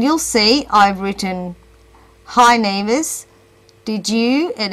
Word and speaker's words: Nives: So my name, for example, is Nevis, and it's spelt N-I-V-E-S. The TTS robot will pronounce it as knives.